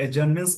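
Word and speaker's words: adjournments: एडजर्नमेंट्स मतलब होता है, इसको एडजर्नमेंट्स बोलते हैं, इसमें डी साइलेंट होता है।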